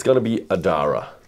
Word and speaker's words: Ardara: It's going to be Adara. Adra. Adra. Yeah. Like the town. Like the town. Yeah. The a in the middle. We write it down but you don't say it. Adra.